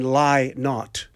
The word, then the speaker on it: Lynott: Lynott is a bird, they keep telling me in rehearsal. Okay. Lynott is a bird, and Lynott, as in lie not, is what Philip Is tells us. how it's pronounced.